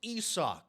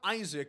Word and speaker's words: Isaac: hopped into the twitch chat his name is pronounced ESO you casuals it is not Isaac it's ESO there is people debating that it